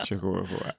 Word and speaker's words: Chihuahua: the salty chahua HOA wait did I spell it wrong is that what you're saying it that way no no it's no it's chihuaha I always think it's funny to say Chihuahua but the salty Chihuahua